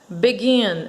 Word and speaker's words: begin: oi e o verbo begin a aqui já é um verbo de duas sílabas né mas a sílaba final é a sílaba mais forte né ele seria aqui uma